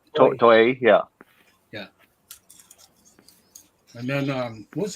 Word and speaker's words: Toei: Toei, right? Toei, yeah.